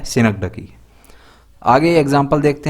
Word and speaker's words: synecdoche: Pronunciation ध्यान रखिएगा, इसका प्रोनाउंसिएशन है सिनकडकी।